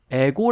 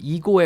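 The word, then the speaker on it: ego: 매스 샘이 얘기해 주셨는데 한국사람이 이거를 이고 가 아니라 이고 라고 발음하지 않고 에고 라고 발음을 하는 경향이 좀 있다 이렇게 말씀하셨어요 근데 에고 보다는 우리말로 발음을 한다면 이고 에 가까운 그런 발음이 니까 일단 발음의 조금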